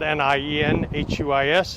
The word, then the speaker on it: Nienhuis: My name is Hernando County Sheriff Nienhuis, spelled N-I-E-N-H-U-I-S, and it's pronounced Nienhuis.